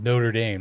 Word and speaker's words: Notre Dame: If Notre Dame wanted or Notre Dame, I forget, but it's pronounced Notre Dame, not If Notre Dame wanted to get in, they should have beat Miami.